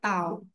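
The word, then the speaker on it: τ: Nah ini bacanya tau. Jadi huruf T-nya.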